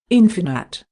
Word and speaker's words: infinite: Infinite.